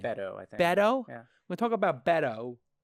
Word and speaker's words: Beto: bado bait bait bait Oh what does Hetty pronounce his name Beto Beto we talk about Beto apparently he was